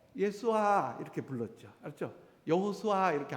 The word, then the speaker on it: 여호수아: 근데 이제 원래 원래 오리지널 히브리어 발음은 여호수아입니다. 한번 해 봅시다. 여호수아. 여호수아.